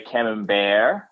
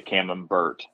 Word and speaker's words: Camembert: So some say Camembert, like it's French. Oh, it's or fancy. Some say, yes, it's the most bougie cheese I like. And some say Camembert.